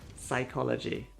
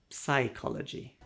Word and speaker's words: psychology: If a word starts with PS, just ignore the P.